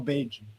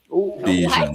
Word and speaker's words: Bajan: I'm a real Bajan. Bayesian. What? A Bayesian? Like a G. Do pronounce it like a J.